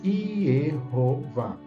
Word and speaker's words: Yehováh: com as vogais plenas iova são duas sílabas iero e vá a segunda sílaba sílaba tônica mais forte não é então se